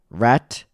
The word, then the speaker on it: rhetoric: It's pronounced rhetoric.